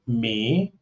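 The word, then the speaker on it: Mỹ: And I said uh I'm from me like my it's like my my like my but you pronounce it me and that means America. And so I say, "Me?"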